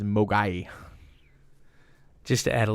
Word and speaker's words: Mogwai: I get you yeah so in Cantonese Mogwai means devil demon or gremlin and the mandarin pronunciation is mo guy II just to add